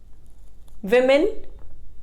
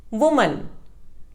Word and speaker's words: women: Women. It is commonly mispronounced as woman. The correct pronunciation is women.